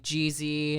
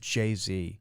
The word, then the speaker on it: Jay-Z: It's pronounced Jay-Z. Excuse me. See, I'm not into the raps. Was it ever Jeezy though? No, there's Young Jeezy. He's a completely different artist.